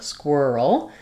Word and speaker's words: squirrel: So first of all, we have first syllable stress, and the letters Q-U say the qu sound. So then my IR says in this word. I've rewritten that for you with letters ER, squirr, squirrel.